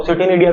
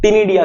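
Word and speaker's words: ctenidia: सिटीनिडिया तो खैर नहीं कहोगे क्योंकि सी इसमें साइलेंट है ना, क्या है, टिनिडिया कह सकते हैं आप, है ना।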